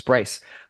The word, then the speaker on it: Bryce: Tingle has just corrected me and said that I mispronounced his name. It's not Bruce, it's Bryce.